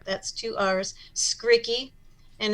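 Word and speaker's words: Skrycki: r capital r capital r that's two r's skriki and it's spelled s k r y c k i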